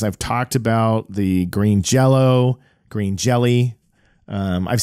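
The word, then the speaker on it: Jellö: that but um but with the accenting it's still pronounced Jello um I oh oh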